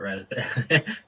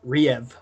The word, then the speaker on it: Rive: I actually pronounce the I, it's not Rev. Yeah. I don't know. You're going to laugh at this one. I always pronounce it Riev.